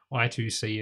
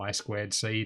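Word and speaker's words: I²C: much all already done i2c is mostly on the way or i squared c depending on how you want to pronounce it we may take a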